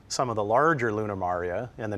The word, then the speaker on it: maria: C and then the plural it looks like Maria but it's pronounced Maria and so these are called lunar maria or